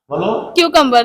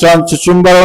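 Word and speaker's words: cucumber: আমরা যদি সেই উচ্চারণ কিউ কম্ব কিউ কমবা ওকে তাহলে চুচুম্বারও না কুকুমারও না এর উচনটা কি হবে কেউ কমবা নো প্রবলেম আমাদের ভুল হতেই পারে।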